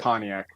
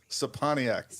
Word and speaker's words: Scepaniak: It's super Polish and German, and you got to say like Pontiac the car. Right? Scepaniak. Scepaniak. Got it. Yeah, that's a good way to help people remember. The C is silent.